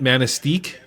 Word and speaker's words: Manistique: Is that how you pronounce it? Manistique.